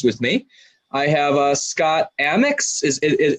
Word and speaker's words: Amyx: I have Scott Amyx. Am I pronouncing your name right, Scott? Amyx. Yeah, I've got Scott Amyx.